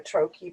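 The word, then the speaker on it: trochee: am is uh troche so steady is actually a trokey because the emphasis is on the first syllable steady not steady steady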